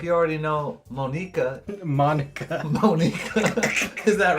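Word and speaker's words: Monika: Her name is Monica. That's how they pronounce it.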